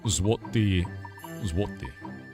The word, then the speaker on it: złoty: Złoty. You gotta get back into the throat on that one.